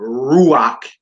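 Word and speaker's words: רוח: Therefore, ruach is stressed on ru, and rakia is stressed on ki.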